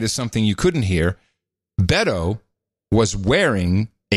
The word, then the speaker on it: Beto: to pronounce it now it's Beto Beto yeah it's like saying Roberto you just dropped a row and the earth Beto